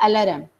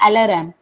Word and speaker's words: alarm: I have kept the alarm. We almost all of us are accustomed speaking that way, but it's not alarm, it's alarm, right? That's how it's spoken.